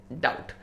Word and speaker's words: doubt: बस next word is डाउट। DOUBT में B silent है, डाउट नहीं हो, वो तो हो ही नहीं सकता है।